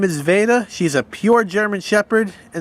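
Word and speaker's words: Vada: Her name is Veda. She's a pure German Shepherd, and that's spelled V-A-D-A.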